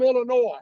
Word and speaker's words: Illinois: from Illinois she's from Illinois I don't know how and that's Illinois with s is silent I don't know how